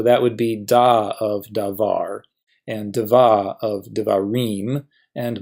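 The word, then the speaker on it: דָּבָר: If the syllable has the accent, well, duh, we call it the accented syllable, like meh of melek, var of davar, or ka of malka.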